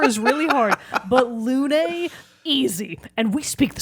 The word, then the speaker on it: Lune: Well, anybody, at least we're not the British, and we don't pronounce it loon. This is true. They say Lune in the game, guys.